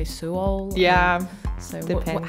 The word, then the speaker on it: Suol: We had Till Fon Sign, and he said that some people pronounce it soul and some people say Suol.